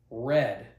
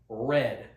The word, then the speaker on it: read: Now, this one is a little complicated because the past simple for read is red, but it is spelled the same way. However, it's pronounced red.